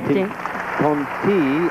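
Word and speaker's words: Tikhonkikh: Tikhonki is the way he pronounces his name.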